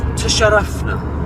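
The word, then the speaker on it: تشرفنا: 4 kind of syllables. Ta-sha-raf-na. Now the ta is a soft ta at the front of the mouth. Ta, ta, ta. Not a ta, but a ta. Ta, sha, sha.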